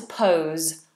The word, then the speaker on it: pose: about that that's to pose and that's the o d thong pose you might call someone